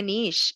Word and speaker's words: niche: We call it niche in Canada.